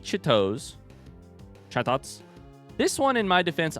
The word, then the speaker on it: Chatot: Imagine pronouncing parrot like that. Chat it?